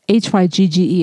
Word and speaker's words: hygge: Spelt H-Y-G-G-E if you're wondering what I'm pronouncing. That is how you pronounce it, hygge.